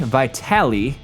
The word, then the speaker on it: Vitale: Danny of Italian now I'm pretty sure I'm pronouncing his last name right I think you pronounce the e in his name but after one week